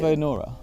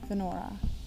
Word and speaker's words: Venora: Venora. I was trying to put the I in there rather than Venora. It's like Nora with a V, Venora.